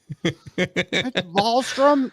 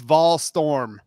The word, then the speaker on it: Volstorm: It's Volstrom? No, it's Volstorm. That's the way it's spelled. As we tell Baker all the time, English, it's pronounced exactly as it's spelled.